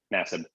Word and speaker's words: Nassib: came out in the National Football League for Nassib. How does he pronounce it?